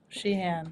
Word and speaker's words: Sheahan: not recognize our guest but this is shean did I pronounce it correctly yes shean yes I see people try to say my